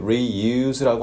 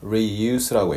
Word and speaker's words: reuse: 그리고 발음할 때 reuse라고 안 했습니다. reuse라고 했죠. use란 말이 동사로서 쓰다, use, 그냥 씀, 이런 식으로 명사가 될 때는 reuse, 이런 식으로 발음을 하게 됩니다.